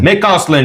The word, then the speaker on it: McAuslan: Amateur de bière Saint-Ambroise même maison McAuslan. McAuslan. McAuslan. J'aime ça le dire ça parce que toi tu me reprends puis ça l'apprend aussi aux gens de bien dire les prononciations comme on a déjà parlé.